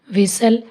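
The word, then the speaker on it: whistle: टी कहाँ कहाँ silent होता है इसका भी रूल है टी is silent before L, यानी एल से पहले अगर टी आए तो टी साइलेंट होएगा।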